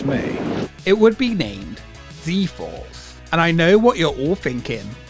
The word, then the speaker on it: Z-Force: you to know that it goes against every fiber of my being to say z force and not zed force throughout this video it